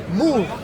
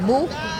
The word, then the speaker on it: Moor: Moor, I'm not saying it right. Am I saying it right? Moor, M-O-O-R, Moor, right? Yeah.